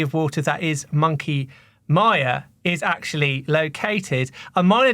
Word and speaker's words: Mia: Monkey Mia is actually pronounced Maya as in the department store or not Mia as in Mia Farrow and as pronounced on